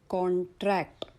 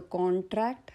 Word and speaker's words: contract: नाव लेट us look at some examples words which are used both as nouns and verbs, and when the word is used as a noun, first syllable is stressed, and when it is used as a verb, second syllable is stressed.